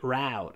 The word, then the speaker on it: route: Americans say route, a scenic route.